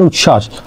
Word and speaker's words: উচ্ছ্বাস: যুক্ত বর্ণ হতে হবে যেমন উচ্ছ্বাস উচ্ছ্বাসে কি আছে ব ফালা আছে কিন্তু বর উচ্চারণ হয়নি ঠিক তেমনি ভাবে উজ্জ্বল